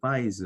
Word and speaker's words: fides: 이제 신뢰의 여신 예 이름이 이제 피데스 oo 아 미국식 발음은 이제 파이즈 라고 하고 모여있다는 데 어 아